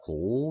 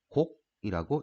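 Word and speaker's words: 告: 해 준답니다 꼭 자 이 글자는 알리다 고 오라고 하는 그 입자인 데에 여기에서는 고 오라고 하지 않고 곡이라고 읽어줍니다 왜냐하면 나보다 나이가 많으신 연륜이 많으신 어른들한테 총 해가지고 알려드리는 걸 뵙고 청 하기 때문에 곡이라고 읽어줍니다 그 다음에 나 갔으니까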